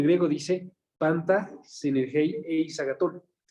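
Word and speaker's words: ἀγαθόν: Eis agatón. Eis es E-I-S. Y agatón lleva acento en la O.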